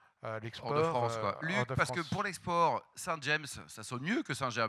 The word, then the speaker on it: Saint-James: à 40 % l'explo parce que pour l'export Saint-James, ça sonne mieux que Saint-Je non ? Oui. Bon, tu prononces nous on est très à cheval de prononcer Saint-Jamb.